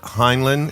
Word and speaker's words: Heinlein: this week I thought we'd go over Robert heinan is that how you say it yes H